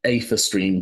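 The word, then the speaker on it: aetherstream: and each of you know they are called ather stream Vehicles that's a stream a h e r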